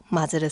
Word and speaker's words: まず: 이런 상황에서 마즈를 쓰시면 돼요. 근데 여러분 주의할 점이 이 마즈가 한국 사람한테 은근히 어려운 발음이에요. 이 즈가 여러분 해보시면 알겠지만 잘못하면 주가 돼요.